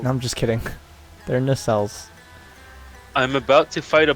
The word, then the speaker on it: nacelles: Is that its pronounced? Yep. That's one part of air. No, I'm just kidding. They're nacelles.